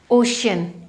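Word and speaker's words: ocean: सी के बाद जब ई ए आ रहा है तो उस केस में भी हम उसको श की तरह उच्चारित कर रहे हैं।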